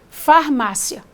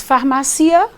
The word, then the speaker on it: farmácia: tem aqui Um ditongo Se você pronuncia esse conjuntinho rapidamente farmácia se você não diz farmacia devagar você tem um ditongo farmácia eu vou à